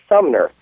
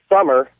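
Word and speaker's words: Sumner: but one of the names in it is Sumer s u m n e are mhm well this particular coworker says hey why don't you call bleep summer and ask them summer like the season and she won't say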